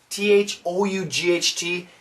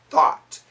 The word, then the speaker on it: thought: be useless were thought t-h-o-u-g-h-t it's an a-w sound foot no not for american pronunciation thought gonna drop the chin thought tt connect it keep